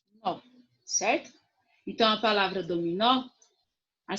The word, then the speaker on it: dominó: usar olha só vamos começar com a palavra dominó o que é a sílaba mais forte aqui o nó não é